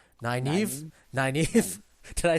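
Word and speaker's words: Nynaeve: not what's her name naive naive did i say it right yeah that's correct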